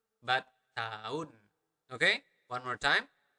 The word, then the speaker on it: tahun: We usually do not really pronounce the letter H, so we do not really pronounce it as tahun, but tahun. Okay, one more time, tahun, tahun, tahun lalu.